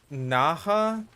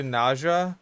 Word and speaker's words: Naja: I think it's pronounced... Naja? But it might be Naja.